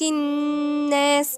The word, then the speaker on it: الناس: ولاحظوا اننا مش بننطق اللام لانها لام شمسية مش قمرية. ممنوش الناس، لا، يبقى نقول ايه؟ الناس. دي لام شمسية مش قمرية، مش لام قمرية.